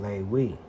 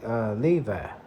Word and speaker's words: Levi: So the proper pronunciation is what? Lewi. Let's see what it says in Yiddish. See, in Yiddish, they just say Levi. In Hebrew, it says Lewi.